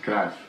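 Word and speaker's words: Johan Cruyff: leave no it is Dutch football legend Johann krath it's pronounced craft I apologize with Total Football Johan Klaus that's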